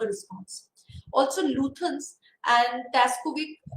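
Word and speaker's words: Stajkovic: Also, Luthans and Taskovic, it's the S is silent.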